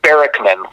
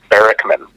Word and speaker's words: Barackman: Barackman from Finding Bigfoot and a well-known Bigfoot researcher. How are you today? I'm doing okay. But it's Barackman, for whatever that's worth. Cliff Barackman.